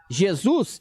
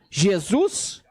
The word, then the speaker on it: Jesus: segundo alguns historiadores quando o nome Jesus Jesus foi importado do Alemão para o inglês ele era pronunciado na forma Alemã com o J apresentando o som de y e isos ok porém